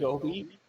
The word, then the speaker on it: Gobi: I don't know how to pronounce it. The Godi Desert. Yeah, Godi Desert. Gobi.